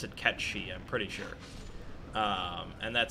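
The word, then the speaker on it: Cait Sith: are fans of Final Fantasy 7 it's not pronounced Kate's it of course not it is it is catchy probably I think at square-enix they meant they pronounce it catchy I'm pretty sure and that seems to be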